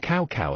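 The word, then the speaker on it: Cao Cao: of cow cow, and cow cow appears. The word fuck in Chinese is pronounced as a cow as well, but the intonation is slightly different from cow cow.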